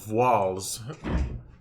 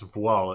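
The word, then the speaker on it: Voiles: playing this is wc's walls if you're uh american it's voila if you're actually speaking french because uh we don't pronounce the s at the end of a word in french we just indicate plural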